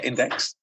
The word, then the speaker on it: INDX: Is that how I'm pronouncing it correctly? Or do you say INDX? Yes. Index? Yeah, Index.